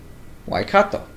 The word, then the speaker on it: Waikato: Waikato. Okay, so I've been mispronouncing this the entire time.